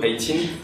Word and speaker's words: Eye t'INE: Du coup, 18, je sais pas si on voit bien, mais ça s'écrit pas du tout comme 18, mais donc ça se prononce comme le 18 en anglais.